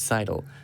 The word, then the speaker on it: Seidel: You do say it like Seidel, like you sidle up to the bar for a drink.